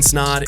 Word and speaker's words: Snod: guys my name is snod at rhymes with odd and you're listening and